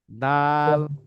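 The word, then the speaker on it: د: এই জিহবার আগা যে ত কোথায় যাবে? উপরের দুই দাঁতের গোড়ার ডাল সাথে লাগবে। দিয়ে উচ্চারণ হবে ত, ত তা ত দা, দাল, ত ডাল দাল তা,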